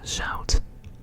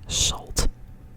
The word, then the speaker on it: zout: The next one is au. Alright, so basic example would be for the first first example. Zout. That means salt. Zout.